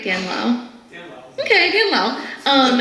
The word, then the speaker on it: Lau: Literally in the notes it says Dan like Ann. I'm sorry, what else would Dan rhyme with? Okay. Oh, and Lau slant rhymes with owl. Thank you, Kevin. Am I saying it right? Dan Lau?